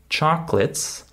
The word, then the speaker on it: chocolates: last word I said chocolates notice that it's just two syllables chates right we don't